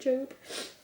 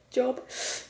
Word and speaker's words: Job: You know, the story of Job, is it Job? It is Job, I just don't know how to pronounce his name, because I always say Job, and it's not, but I've watched, yeah,